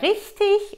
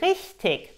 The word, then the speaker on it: richtig: Dann haben wir richtig und richtig. Beide korrekt.